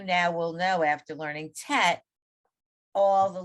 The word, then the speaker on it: tet: to spot set but it's a short e obviously you know that but it's